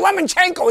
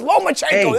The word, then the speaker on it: Lomachenko: be the ductor points he's not a lemon it's not lemon chenko it's lomachenko go in hey Mal